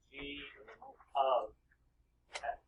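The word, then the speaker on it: g(x): That's actually pronounced G of X. Just so you know, so we say it properly. So when you're talking using this, say G of X equals negative 2x.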